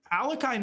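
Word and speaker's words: Alekhine: I love him but alakai himself apparently pronounced his name not oh not a y o but an e sound so most Russians will say but apparently he himself pronounced it differently so maybe during the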